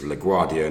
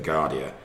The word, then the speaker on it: LaGuardia: if you can that my pronunciation of the New York Airport LaGuardia is LaGuardia not as I said in the Gardea and been also asked